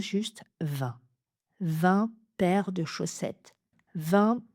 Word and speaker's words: vingt: Donc là, on fait aussi la liaison hanté en 20 années.